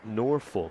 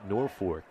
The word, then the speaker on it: Norfolk: It's spelled Norfolk, which you would think is Norfolk, but it's actually on the fork of a river, and the locals call it Norfolk.